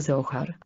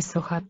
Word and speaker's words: Zohar: zasadnicza Księga kabały Zachar Zachar tak jak w polskich wymowie a nie Socha z niemiecka bo Niemcy inaczej wymawiają z wyjaśniono to i